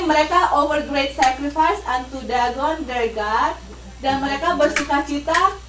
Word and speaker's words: Dagon: Not dragon ya, bukan dragon. This is Dagon.